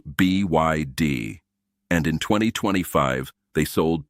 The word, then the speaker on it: BYD: It is not by D, by the way. It is B YD.